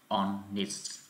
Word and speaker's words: honest: Tiếp theo phải là honest. Honest, chữ H đây không phát âm. Các em đọc honest.